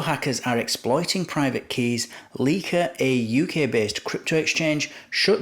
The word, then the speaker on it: Lykke: I have actually checked how to pronounce that, and that's how the CEO pronounces it. So I was thinking it might be Lykke or like, but it's actually Lykke.